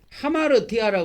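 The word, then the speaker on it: ἁμαρτία: 죄죄 을 사용하 그래서이 헬라에 보면은이 죄라는 것이 하마르 티아라 그러는데 하마르티아 하마르티아 또 하말 티아이 니어를 니어를 밑에 붙여 가지고 하티 이렇게 발음하기도 하고 하마르티아 이렇게 발음하기도 하는데 그래서이 죄라는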